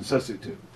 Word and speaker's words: Sesotho: It looks like Lesotho. The right. Tribe is Basotho. And they speak Sesotho, but it's actually pronounced Lesotho, Basotho, and Sesotho, which I learned once I got on the ground there.